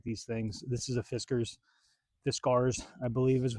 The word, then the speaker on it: Fiskars: This is a Fiskars, I believe is how you pronounce it.